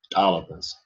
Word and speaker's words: talipus: Yeah, so in the original of the Southern dialect, the word for coyote was talipus, with a popping T sound at the beginning, talipus.